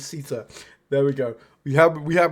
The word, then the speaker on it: Siita: There's no L in Siita. It is not Siita, it is Siita.